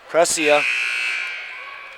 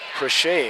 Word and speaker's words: Crochet: And coming back in is Jason Precia. Oh, Crochet. That's the way they're pronouncing it.